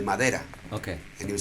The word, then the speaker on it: madera: as Spanish speakers, that when D is in the middle of a word, not at the beginning and not at the end, but in the middle, we don't pronounce it like a D in Spanish. We pronounce it like a TH.